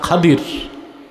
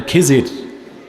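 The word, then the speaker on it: خضر: উপদেষ্টা প্রধানমন্ত্রী ছিল হযরত খাদির কে আপনারা যাকে বলেন খিজির উচ্চারণটা খদির বিফাতহিলখাদর সুবহানাল্লাহ যেখানে নামাজ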